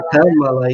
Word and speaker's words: Kamala: E aí pode ser um problema, porque aí, até o Miguel comentou aqui da pronúncia, pronúncia correta é Kamala, e não Kamala.